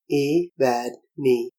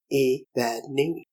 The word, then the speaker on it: Evadne: word in my heart, a word of just 3 syllables, the accent being on the penultimate Evadne, Evadne.